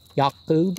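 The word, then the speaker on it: Ya'akov: lily my flesh and jacob yak boob is how you pronounce his name there is no j sound um and my odor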